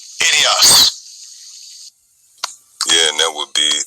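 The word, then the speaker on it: ἴδιος: Idios. Idios. Yeah, and that would be the pronunciation in the Greek for this word own.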